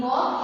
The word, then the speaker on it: walk: In first one, in walk, L is silent letter.